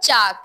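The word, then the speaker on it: chalk: ने कुछ वर्ड्स लिख के लाइन ठीक है साइलेंट लेटर बताो बस स्पेल लिख प है चाक सी एच ए एल के चाक चाक में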